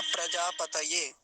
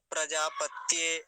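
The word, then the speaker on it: प्रजापतये: रखेंगे पतय बोलना है कभी ऐसा बोलते प्रजापत स्वाहा ऐसे भी बोलते हैं कई सारे लोग प्रजापत्य ऐसा बोलते हैं वो गलत उच्चारण होगा तो सही उच्चारण क्या होगा होगा प्रजा पतय पतय अब अगला देखिए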